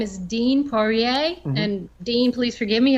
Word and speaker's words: Poirier: His name is Dean Poirier. And Dean, please forgive me if I didn't get that quite right. It's a French spelling, but he says it's an American pronunciation.